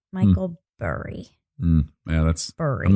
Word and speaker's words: Burry: and it's about Michael Barry Barry well it's spelled b r r y but as I remember it being pronounced it was Barry Michael burry yeah that's I'm not